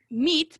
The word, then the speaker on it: meat: Entonces, meat, para decir carne, es una i y súper seco. Meat. Nada más, ¿ya?